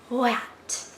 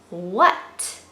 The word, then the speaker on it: what: This word, I always say you spell it wahat, but you pronounce it, it has the WH, wah. But you don't say wat, wat. That's not what this word is. This word is actually what. What. And what sounds like it has a UT. What. So this is definitely a memorizing word. What. Spelled wahat, pronounced what.